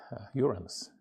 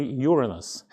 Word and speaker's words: Uranus: They could see all planets up to Saturn, but he discovered Uranus. I read somewhere about pronunciation, and it says that professional astronomers always say Uranus. Not professionals say Uranus.